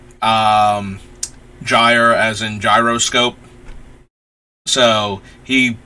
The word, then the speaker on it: Gyre: spelled this way, if Gear is one of the actual pronunciations. I thought it was at the time, and I kind of like the hard G more for him.